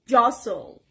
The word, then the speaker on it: jostle: And the next word is jostle. Jostle. The stress is on the first part and it's a verb.